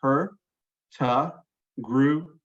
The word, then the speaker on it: Hurtigruten: Green um but uh we've broken it down here phonetically so it's her ta group her degree we know